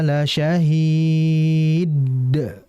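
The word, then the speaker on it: لَشَهِيدٌ: Tapi langsung dipantulkan. La syahid la syahid. Nah, jadi langsung dipantulkan ya. Hati-hati dalam memantulkan qalqalah dalnya. Jangan terlalu cepat. La syahid. La syahid tidak harus pelan ya. Harus dengan ee aliran yang jelas.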